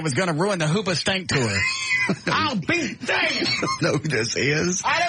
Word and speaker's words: Hoobastank: And finally, Hoobastank. Is that how it's pronounced? It's a band. Yes. Did you hear this? Hoobastank has had to cancel.